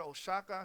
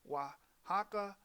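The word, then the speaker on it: Oaxaca: as I mentioned before the O and the Spanish cicis represent the W sound so the word Osaka should be pronounced wahaka I mean wasaka are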